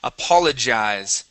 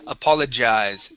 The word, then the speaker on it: apologize: Apologize. J-jize. Apologize. Okay. Yeah. Much better. Okay. So when you pronounce that G or that J, okay, you're going to get that vibration right there.